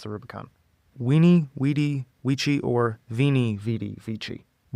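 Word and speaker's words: veni vidi vici: Weeny wedi or veni vichi. Weeny wedi wiki.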